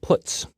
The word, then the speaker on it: puts: They are pronounced: printf, putCar, and puts.